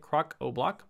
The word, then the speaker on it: Crocoblock: That's how you pronounce it, Crocoblock.